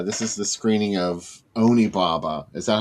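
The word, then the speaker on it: Onibaba: Hey, let's look at some pics that AC Nicholas sent of uh this is the screening of Oni Baba. Is that how you pronounce it?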